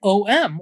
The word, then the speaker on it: Ogham: pronounce it's called yes it's o-g-h-a-m and people probably have seen it everywhere and it's simply pronounced um kind of like om like a meditative chant um and it's celtic